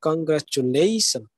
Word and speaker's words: congratulation: Now, in this word, congratulation, if you will say normally, it will be like congratulation. But if you put some stresses on particular syllable, it will look beautiful. It will sound beautiful. Like congratulation. Okay. Like congratulation. Here at the end in the word in the syllable like lation, there is a stress.